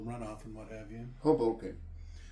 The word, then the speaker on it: Hoboken: Hoboken. That's what I said. Haboken. If you want to butcher it, you could say it that way. Just sounds like it sounds like you're saying it wrong, even when you're saying it right.